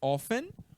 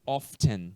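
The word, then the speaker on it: often: Of An pessoa e esse T ele pode ser pronunciado pode ou não ficar seu critério offen ou of Chan tá bom how of ten show de bola número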